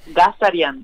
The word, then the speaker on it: Ghazaryan: No lo quería pronunciar porque sé que lo iba a hacer mal. Ghazaryan.